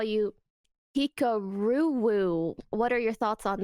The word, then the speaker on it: Hikaru: I've heard a lot of French people say my name the other way, so I actually like it. I prefer it that way. So that's better. Hikaru. That's better. Hikaru.